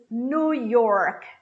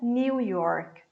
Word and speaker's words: New York: The next one is New York. New York. E não New York. Ok? New. Esse new que a gente vê, ele vira new. New. Assim como a palavra novo. A pronúncia correta é new.